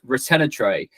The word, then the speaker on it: Ratanatray: The last name is pronounced Ratanatray. The best spelling for the name is like a rat on a tray.